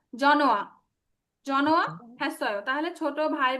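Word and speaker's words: 전화: আচ্ছা, থংসাং হানতে জনহাস্যয়, এই যে জন হোয়া, আমরা নর্মালি এটা উচ্চারণ করি জন হোয়া, তাহলে কি হবে? জনোয়া।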